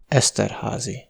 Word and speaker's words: Esterházy: aussi, vous pouvez croiser des Y tout seuls dans des noms de famille, auquel cas ils se prononcent simplement [i] : Esterházy.